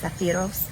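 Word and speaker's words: σάπφειρος: it's hebrew strong 5601 in greek is uh pronounced saphiros which is greek strong four five five two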